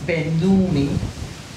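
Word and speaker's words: σβέννυμι: S-B-E-N-N-U-M-I. Spenumi. It's pronounced Benumi.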